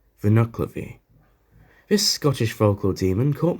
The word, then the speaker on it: Nuckelavee: have to explain my entire process on for nuclear v or as it's properly pronounced vinoclavi this scottish vocal demon caught my attention almost